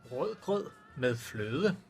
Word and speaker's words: Rødgrød med fløde: Rødgrød med fløde. What? Rødgrød med fløde. Rødgrød med fløde. Ru. Good meflud. You don't pronounce the D?